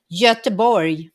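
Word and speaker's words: Göteborg: oh that's in english gothenburg in swedish it's just a boy okay and that's one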